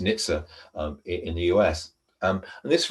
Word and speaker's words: NHTSA: from the National Highways Transport Safety Authority, usually pronounced NHTSA, in the US.